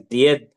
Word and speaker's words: Ded: This Didda gradually became Ded, the diminutive form, pronounced as Died, again the diminutive form of Didda.